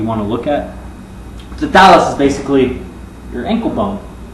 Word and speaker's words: talus: actually going to be the thallus, or talus if you don't pronounce the H, which is your ankle bone.